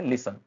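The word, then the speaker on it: listen: pattern alert आप देखेंगे कि व्हेन टी अपीयरर्स बिफोर एन जब भी टी आ रहा है ना एन के पहले तो क्या हो रहा है यह साइलेंट हो जाता है ठीक है जब भी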